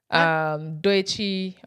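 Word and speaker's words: Doechii: Sabrina Carpenter, Tyler, Arya Starr, Doechi. Is it Doechi? How do you pronounce her name?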